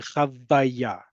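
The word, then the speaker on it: חוויה: We're running out of time here, but chavaya, because the root of it is chet vav hey. And in order to pronounce it, that vav as part of the word and not as a vowel, we add that second vav there to ensure that we're saying chavaya.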